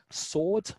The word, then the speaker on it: sword: shortcutting things uh like sword which was originally pronounced as it was spelt sward but people realized that